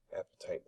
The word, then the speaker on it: apatite: Apatite is how you say the example mineral here.